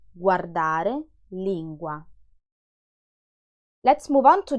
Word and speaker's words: guardare: Guardare, guardare is the verb to watch. Lingua, lingua is the tongue. Guanti, guardare, lingua.